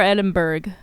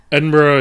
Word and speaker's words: Edinburgh: Edinburgh is correct. If you're Scottish. But if you say it Edinburgh, it's not like the end of the world in America, where anglicized pronunciations are always technically correct, thanks to colonialism. That's true. But yeah, Scottish people would rather you probably say Edinburgh.